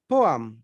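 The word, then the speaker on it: poem: Okay, and ये जो होता है ना, पोएम लोग बोलते थे, पोएम नहीं, इसका क्या होगा? पोअम पोअम पोअम नहीं, पोहा नहीं है पोअम।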